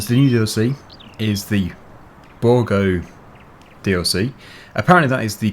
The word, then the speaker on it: Bourgault: DLC properly, and the new DLC is the Bourgault DLC. Apparently that is the correct pronunciation for it, because before I was calling it Bourgault or something as it is spelt, but yeah, Bourgault seems to be more appropriate.